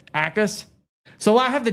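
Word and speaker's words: Jacas: Gabe Ackus, but the J is silent. Is that how you say it? It's Ackus?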